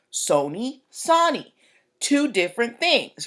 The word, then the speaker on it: Sony: So they're like, Sony's a long O, we're a short O. Sony, Sony.